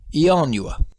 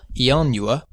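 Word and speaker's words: ianua: word which means door if we pronounce the first i as a vowel the word is four syllables yanua it's only a small step from saying the four syllable yanua to saying the three syllable yanua yanua so sometimes the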